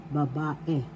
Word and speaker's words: babae: babae girl is babae first syllable ba second syllable ba third syllable e babae the second syllable has the accent to you pronounce this or because babae that'sch girl babae the